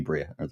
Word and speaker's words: Briah: I always say Brier because it's spelled Brier, but it's actually Brier.